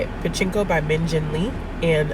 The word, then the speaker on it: Pachinko: But I was listening to Pachinko. That's how you say it. Pachinko by Min Jin Lee.